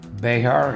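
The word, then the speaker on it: Bexar: Behar, it's pronounced Bear, someone told me.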